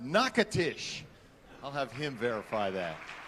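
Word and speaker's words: Natchitoches: a town in louisiana i'm told is pronounced nakatish i'll have him verify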